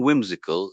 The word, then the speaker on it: whimsical: For spelling whimsical, the WH at the beginning is the key, and then it's MSICAL. A good way to remember the W is to think of words like what or where, and the zical ending is like musical without the M.